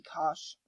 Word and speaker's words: cosh: we have cosine which and hyperbolic would be cosh and then we have tangent which in hyperbolic